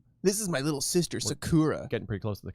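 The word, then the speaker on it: 桜: killer is it with three syllable words in japanese it's a pattern of either down up up or up up down not down up down so it's not sake it's not sakura sakura sakura sakura makes sense this is my little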